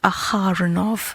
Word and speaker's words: Aharonov: Also, I say Aharonov because I want to emphasize on the aha piece.